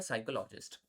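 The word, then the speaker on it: psychologist: होगे, जैसे for example मैं यहाँ पे जब साइक बोल रहा हूँ तो आपको दिख रहा होगा कि मैं पी, जो पी वाली साउंड है वो नहीं आ रही है ना? तो पी साइलेंट है।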